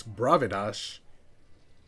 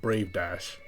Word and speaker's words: Brave Dash: up my fastest horse bravados I think sorry I think I mispronounced that I think that's called Brave Dash has not gone unnoticed